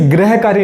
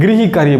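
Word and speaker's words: गृहकार्य: इसे ग्रह कार्य नहीं बोला जाएगा, हम बोलते ग्रह कार्य नहीं, गृही कार्य बोला जाता है।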